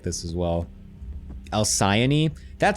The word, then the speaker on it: Alcyone: God, I hate Greek pronunciations of things. Alki 1. It's actually Alki 1.